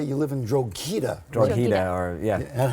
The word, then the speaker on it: Drogheda: Drogheda, or yeah. And how do you say it? Drogheda. I like the way you say Well, it. if you're in my hometown, you'd say Drogheda. Drada.